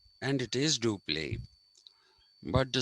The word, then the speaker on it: Dupleix: Everybody of my age group went to school and learned his how to pronounce his name. We were told it's Dupleix, and it is Dupleix, but the spelling is EIX.